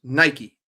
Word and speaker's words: Nike: It's an American company. It's pronounced Nike. Someone put it in the chat. It's from Oregon. It's Nike.